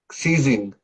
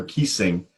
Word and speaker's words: ceasing: you say this one I say maybe ceasing right good cuz you would said never kissing oh okay yeah yeah